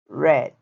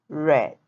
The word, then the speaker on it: read: had leave left read read it's the same but the pronunciation listen read read next one See Saw